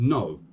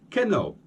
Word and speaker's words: know: letters also we've got like it the word no - no - in in Portuguese no can I say we spell that K in Oh W but a lot of people say Kendall Kendall now this word definitely doesn't exist so